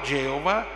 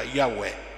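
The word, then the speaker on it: Yahweh: tetragramma Sacro per cui ne venne fuori una storpiatura linguistica iova Geova un termine che in realtà in ebraico non esiste il nome vero si pronuncia yahu in Gesù Terzo punto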